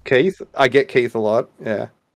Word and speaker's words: Keth: And then like that, I'll play with them for like a month or two, and then they go, "You don't say Keith, do you?" And no, it's Keith.